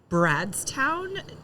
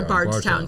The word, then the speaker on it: Bardstown: of the Ohio River bottled in bradstown Kentucky or Bardstown sorry I I yeah Bardstown I've butchered so many